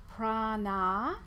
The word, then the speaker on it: prana: It can have two meanings because it's made up of prana, with a long A sound on the end, and ayama, or prana, with a long A on the end, and yama.